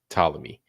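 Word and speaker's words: Ptolemy: walls of pamy right the p is silent why you even put it there but talmy the walls of tmy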